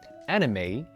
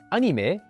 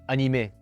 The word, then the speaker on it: anime: example of this is the word anime, which as you can hear again, has a diphthong at the very end when pronounced in English, anime, while in French and Japanese, they sound almost the exact same.